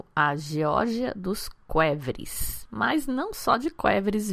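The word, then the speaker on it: qvevri: do episódio 80 inclusive lá eu falava Kev porque eu não tinha referência Agora aprendi que é quev que a gente pronuncia aquela espécie de ânfora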